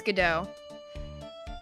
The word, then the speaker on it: Godot: His name is it Godot or Godot? It's Godot. At least that's how it's pronounced in the anime.